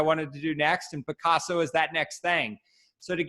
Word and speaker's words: Pacaso: So the name is inspired by the artist Pablo Picasso, but it's spelled a bit differently with an A. It's Pacaso.